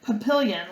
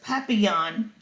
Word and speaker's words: papillon: i hope we get a papillion like our neighbor's dog you say it like this papillon in french it means butterfly i think fancy nancy